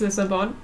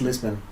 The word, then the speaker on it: Lisbon: guess in German it's lisabon and then the C say lisabon oh I think it's Lisbon Lisbon it's really dumb that's